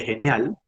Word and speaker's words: Genially: Se escribe así como la ven aquí, de genial, pero se llama Genial.